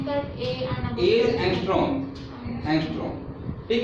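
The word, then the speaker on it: ångström: How we pronounce that A and A एंगस्ट्रॉम, ठीक है।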